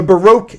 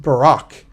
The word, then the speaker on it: Baroque: let's get started the Baroque era pronounced baroque it's a hard word to say baroque sometimes it's pronounced Barack and there's a Barack